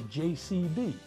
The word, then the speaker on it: JCB: the answer that's a JCB and did you notice the pronunciation yes that's a J not the G at the beginning Michael J Fox drives